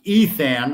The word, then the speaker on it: Ithan: We're going to be interviewing Ithan Ash, pronounced Ethan.